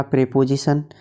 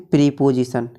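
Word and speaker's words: preposition: Number 6 पे आता है हमारा प्रीपोजिशन, जिसे बहुत से लोग पढ़ते हैं प्रीपोजिशन। तो दोस्तों इसकी सही प्रोनाउंसिएशन होती है प्रीपोजिशन।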